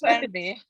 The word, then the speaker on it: Fernweh: I've been saying Fernweh. Yeah, so I had to remind myself this morning. I did another Google search for the pronunciation of it and to remind myself that it's Fernweh.